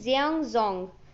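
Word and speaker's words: Xuanzong: ठीक है, इसको प्रोनाउंस करोगे Xiongzong.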